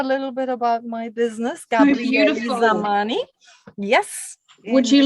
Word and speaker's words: Gabriely Zamany: We pronounce it like an E, so it's not Zamany and it's not Gabriely. It's Gabriely Zamany. Gabriely Zamany. Gabriely Zamany is the business name.